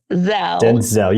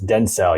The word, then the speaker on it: Dentzel: Indiana, and they are the, I want to pronounce this correctly, the Denzel carousel. Yes. Denzel, yes. Carousel. Did I say that right? I think you're good. I've heard it multiple ways, but it's Denzel, yes.